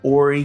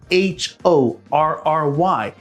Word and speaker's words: Horry: We live in Horry County. It is spelled H-O-R-R-Y. The H is silent, just like in honest, or hour, or air.